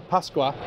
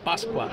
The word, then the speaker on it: Pasqua: I got Pasqua, right? Did I say it right? Mark. That's perfect. Yes. Pasqua. Pasqua.